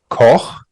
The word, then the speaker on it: Koch: The German pronunciation is Koch, but it's quite hard for non-German speakers.